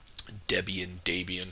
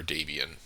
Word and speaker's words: Debian: Debian. How do you guys say it? Let me know. I think I say Debian because it rhymes with my name.